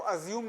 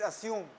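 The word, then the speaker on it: assume: बताओ असम और कंज्यूम इसको जा नहीं बोलते हैं आई रिपीट जा नहीं है इसमें इसको अजूम ना बोलना इट इज असम and that is नॉट कंज्यूम इट इज कंज्यूम हाउ कैन यू असम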